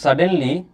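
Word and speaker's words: suddenly: লেখো আরেকটা লেখো ইফ সাডেনলি ইফ সাডেনলি সাডেনলি বলো বলো সাডেনলি বলো বলো বলো বলো ইফ সাডেনলি বলোডেন তুমি বলতে পারছো না সাডেনলি সাপের মতন উচ্চারণ হবে সাপ সেই সাম বাজারে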